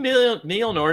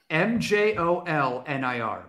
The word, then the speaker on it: Mjolnir: No, he's using Mjolnir to fucking like you know, do the shit that he did in the Ultimates where he's like, oh, there's a bomb.